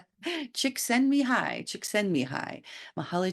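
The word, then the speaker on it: Csikszentmihalyi: an audio I listened uh mahali actually uh pronounced how to say his name and it's chicks send me hi chick send me high chick send me high Mahal chick send me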